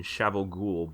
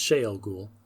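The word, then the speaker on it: Shayol Ghul: How many evil wielders of the one power known as the Forsaken were originally imprisoned in Shavel Ghul by the Creator? It's Shael Ghul. Whoops. That's fine. No, it's a pronunciation thing.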